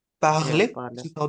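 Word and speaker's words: parler: या पार्ले, पार्ले this is how they pronounce या इट in French, इसका मतलब होता है टू स्पीक, या ठीक है।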